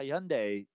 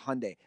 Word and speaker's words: Hyundai: I mean, I'm just pronouncing it how it's spelled. Hyundai. I don't know what. I see. It seems like everybody else just went through the Y, ran through that Y like a stop sign.